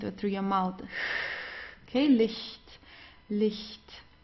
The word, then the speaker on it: Licht: Okay, Licht, Licht. So it's not not the strong H or so, it's Licht. It's very soft, Licht.